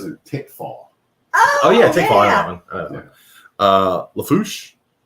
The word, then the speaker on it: Lafourche: tickfall oh yeah uh Lafourche don't pronounce they are it is the force uh LaPlace which is